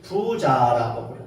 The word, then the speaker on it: 부자: 첫 번째로는 우리가 어 잘 사는 사람, 부유한 사람 이런 사람들을 부자라고. 이때 부는 약간 길게 부를 크게 좀 높여 가지고 부자 이렇게 발음합니다.